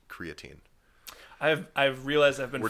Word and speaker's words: creatine: guys but I think I accidentally said creatin once after really digging my heels on it but it's it's creatine for sure that's our official position